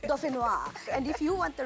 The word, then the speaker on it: dauphinois: Yes, you can't just pronounce it any other. It has to be dauphinois.